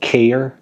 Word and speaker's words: KAER: And yeah, it's called KAER, like K-A-E-R.